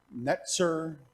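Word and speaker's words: נֵצֶר: The word for branch sounds like the word for Nazarene. Netzer is how the vowels are formed. Natzer would sound similar to Nazarene.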